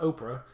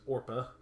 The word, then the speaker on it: Orpah: one name or per not Oprah as a lot of people like to say her name is Orpah and Ruth and so